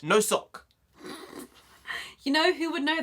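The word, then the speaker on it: носок: 208 fact number two the Russian word for sock is pronounced no sock you know who would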